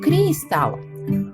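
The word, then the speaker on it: crystal: алмаз коштовний камінь англійською пишемо через ігрик крустав а вимовляємо Крістал ось слово Його транскрипція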